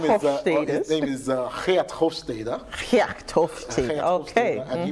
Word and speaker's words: Hofstede: Okay, so in some of the theories we use, or one of the theories we use to explain culture, which is Hofstede's, that's actually the pronunciation, Hofstede.